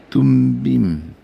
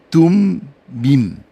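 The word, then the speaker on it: תֻּמִּים: 이게 사전에서 보면 그게 빨리 보이거든요 여기 보면은 둠밈 앞에 나오나 여기 있네 여기 우가 여기서 발음이 돼 가지고 둠밈 덤빔이 아니라 둠밈 완전이라는 개념으로 승패 안에 있었던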